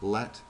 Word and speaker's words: latitude: can see these lines remember latitude lat rhymes with flat so that's latitude and